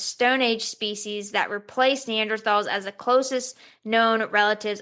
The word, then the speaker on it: Neanderthals: Dragon Man, and it may help oust Neanderthals. Wait, has it always been? I think it really is Neanderthals, but we just say TH.